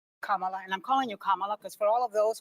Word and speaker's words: Kamala: And I'm calling you Kamala because for all of those who are mispronouncing it, I want you all to know how to say it.